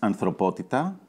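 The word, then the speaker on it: ανθρωπότητα: So, how do you pronounce the title in Greek? It's anthropότητα.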